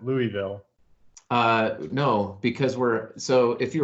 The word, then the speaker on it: Louisville: Okay, so in Colorado, we pronounce it like Americans, and we pronounce it Louisville, Colorado. It's not Louisville? See, everybody outside of Kentucky usually calls it Louisville.